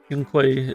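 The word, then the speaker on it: Yunkui: Yunquei is just how you remember the character saying. Yeah, it is how they say it.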